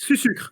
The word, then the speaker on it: Sucre: It's sucre, like sugar, in English.